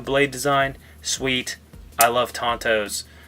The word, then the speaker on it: tanto: be careful tanto blade design sweet I love tantos Tan toes whatever you want to say pushing my son